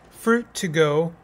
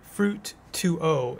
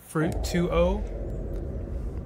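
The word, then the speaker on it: Fruit2O: I have a sparkling fruit to go no sorry fruit 2 O it's spelled like H2O but like fruit 2-0 right and it's a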